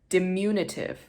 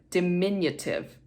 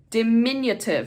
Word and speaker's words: diminutive: while reading this audio book um the word dimunitive dimunitive I've been mispronounced ing this word like I'm mispronouncing it right now dimunitive it's not dimunitive it's de diminutive diminutive is how to pronounce that